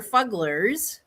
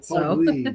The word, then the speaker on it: Fuggler: Yeah, so these are fugglers. Let me look at look at something. Fuggler, yes, it's fuggler. I said it wrong. I'm new to it. Fuggly. I thought it was fuggly. They're fugglers.